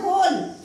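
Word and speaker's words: whole: म्हणजे काय पूर्ण होते मग याच्यामध्ये डब्ल्यू चा उच्चार होत नाही फक्त होल एवढंच वाचलं आपण पण डब्ल्यू तिथे दिलेलं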